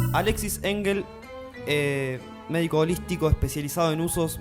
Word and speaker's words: Engel: ¿Engels? ¿Engels está bien? En realidad es sin S y es Engel, Engel.